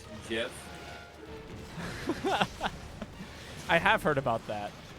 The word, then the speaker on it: GIF: you know that it's actually not pronounced um gift it's pronounced gift because the creator of the gift say that it was pronounced Jeff I have heard about that it's kind of